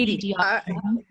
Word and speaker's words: EDI: Is it pronounced Edie? The Edie.